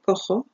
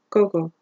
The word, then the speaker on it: cojo: So what happens here is that if I wrote a G here, this verb would not be cojo, but cogo.